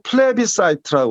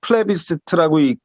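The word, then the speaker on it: plebiscite: 이거는 영어로 플레비사이트라고 그래요. 전 세계가 똑같겠습니다. 플레비시트라고 읽을 수도 있고 플레비라는 건 민중이라는 뜻이거든.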